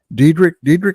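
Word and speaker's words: Dedich: The rookie USC guy, Diedrich is how you say it.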